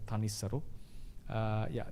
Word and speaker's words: Thanissaro: He's been normally pronounced as Thanissaro.